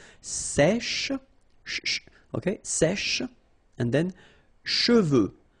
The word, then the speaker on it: cheveux: Usually this one is a bit of a problem because some of the students normally pronounce it chevaux, okay? So try to keep in mind that you get E-U here, so it goes like okay? And then final X not pronounced, sorry, final X, should pronounce it the French way. Final X is not pronounced, so you get che, and then you get the, okay? Cheveux, okay?